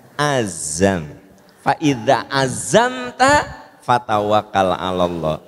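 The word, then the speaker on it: عزم: Nah, orang Indonesia mah gitu sok pronunciation-nya ya, makhorijul huruf sok salah teh. Apa Bu? Ajam. Bukan, azam.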